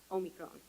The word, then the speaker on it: omicron: a year i finally learned how to properly pronounce the 15th letter of the greek alphabet omicron did i get it right i am grateful